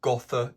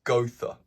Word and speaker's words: Gotha: So the gother not go not gothther it's gother gother fabric's work um that is the pronunciation.